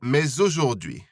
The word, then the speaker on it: mais aujourd'hui: Mais aujourd'hui, or mais aujourd'hui. This liaison is optional, so it's up to you whether you pronounce the S at the end of mais or not.